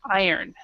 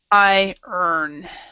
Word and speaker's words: iron: In this one, it is I earn. And so for example, for iron, I like to say I earn money ironing clothes.